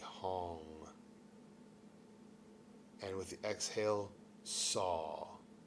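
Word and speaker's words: Sau: And with the exhale, saw. It sounds like saw, like s a w, but we spell it s au.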